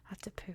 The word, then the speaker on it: Attapeu: Attapeu, though, that is how it is pronounced. Attapeu, and if it sounds a little poopy at the end, that's because it is actually meant to.